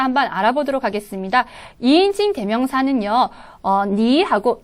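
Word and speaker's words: 你: 니, 그 다음 닌. 그래서 니라고 할 때는 삼성이었고요.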